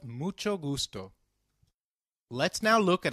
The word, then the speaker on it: mucho: However, when combined with C, it is pronounced as ch, as in church. So, can you try mucho again? It's called mucho.